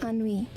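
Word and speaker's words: ennui: Okay, the pronunciation thing on way? Is that how What? Onnui. Okay, that sounds French.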